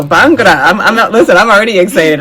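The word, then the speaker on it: bhangra: executive meeting room today I'm hoping I'm going to say this right there's a bagara bangara okay good I said it right bangar Workshop which it sounds like dance B bangra bangra bangra There we go bangra I'm listen I'm already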